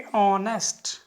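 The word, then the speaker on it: honest: Mostly students क्यों, क्योंकि ऑनेस्ट, ओ की आवाज़ निकल रही है, ऑनेस्ट। ठीक है, इसमें जो एच होता है, एच साइलेंट है और ए की साउंड निकलता है, ऑनेस्ट।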